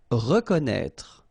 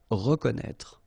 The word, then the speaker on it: reconnaître: Reconnaître. So exactly the same thing with this accent circonflexe on the top of E. You don't pronounce it, okay, but you should write it. Reconnaître.